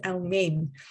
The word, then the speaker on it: Elmien: an Afrikaans speaking, so it's based on Dutch. So the pronunciation is Elmien. Ah. So call me and I'm not very mean.